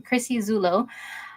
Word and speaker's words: Chrissy Zulo: Yeah, that's how you say her name, Chrissy Zulo.